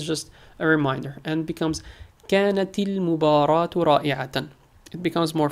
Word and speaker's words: كانت: When a word ends with سكون and the next word starts with L, you see that when you try to pronounce it, كانت كانت so it's hard to pronounce. You have to stop at the end.